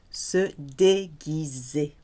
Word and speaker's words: se déguiser: And the verb to dress up, to disguise oneself, se déguiser. G-U-I and G-U-E is a hard G. Because normally G followed by I or E becomes soft, like Gite or Gérard.